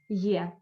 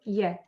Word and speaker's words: я: soft consonants so a soft consonant plus yeah text tibia and so on it's here yeah it's quite uh narrow